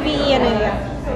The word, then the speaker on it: Avena: Because it's spelled with the N-A, right? At the end? A-V-E-N-A. Yeah. And that's pronounced Avena.